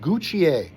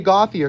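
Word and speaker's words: Gauthier: line two, Senica and Guccier. I'm always tempted to say Gothier because that's how it's spelled. I think it's funny that it's spelled gothier, but you get guch out of that somehow.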